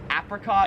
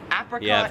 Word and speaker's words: apricot: So that is apricot. Or apricot. So apricot is like the American way, but I've always pronounced it apricot, which is how like everyone in Australia pronounces it.